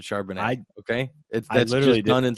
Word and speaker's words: Charbonnet: You pronounce it Charbonneau, I pronounce it Charbonnet.